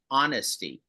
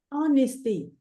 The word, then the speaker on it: honesty: okay uh Dana uh the H in honesty is a silent h you don't pronounce it can you say say it again honesty honesty very good can I